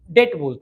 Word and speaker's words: debt: Loan debt debt. D BT but B silent debt.